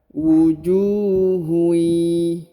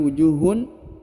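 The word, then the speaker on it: وجوه يومئذ: Maka cara bacanya adalah ditahan, ditekan 2 harokat, lalu didengungkan. Huruf tanwinnya menghilang dan melebur ke huruf ya. Wujuhui, bukan lagi wujuhun, bukan lagi wujuhun, tapi wujuhui yauma idzin ya.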